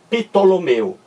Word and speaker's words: Ptolomeu: Muito bem, se você pronunciar a primeira sílaba, pitó, olha aqui, ó, pitó, temos a impressão de que existe um I entre o P e o T, mas não existe. É só mera impressão nossa. Esse I não aparece na fonia e também não aparece na grafia, correto?